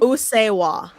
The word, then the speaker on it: Usseewa: Usuwa.